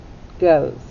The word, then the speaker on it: goes: a g g sound and what kind of o do we have that's right we have a long o don't hear the e and the s makes what sound that's right it makes a z sound goes let's trace to